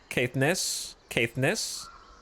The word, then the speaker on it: Caithness: You had it right, but the stress is on the Ness. Caithness.